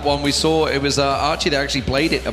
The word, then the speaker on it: Archie: It says Aki, but it's pronounced Archie. I've been told, I've been informed by the Taiwanese community, this is the way to pronounce it.